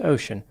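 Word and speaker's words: Osean: His name is very unusual, Ocean, like O-S-E-A-N. According to media outlets, it is pronounced Ocean, so that is how I will pronounce it.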